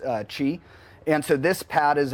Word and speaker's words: Qi: wireless Qi charging it's it's spelled Qi but pronounced Qi and so this pad is a inductive coil